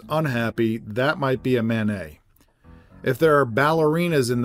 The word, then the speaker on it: Manet: But if you ask me to compare, let's say, Monet with Manet, the only thing I'm pretty sure of is that you're not supposed to pronounce the T in either one.